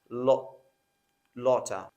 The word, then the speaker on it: a lot of: That's pronounced as lotta.